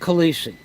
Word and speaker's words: Calise: Union and Kennedy Airport Frank Calise k-a-l-i-s-e Frank Khaleesi they pronounce it Frank Calisi he was the shop